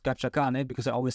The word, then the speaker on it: scacciacane: one thing we didn't talk about, well, I learned already one thing, which is I mispronounced scacciacane because I always said schiacciacane, but you're not squeezing the dog, you're scared.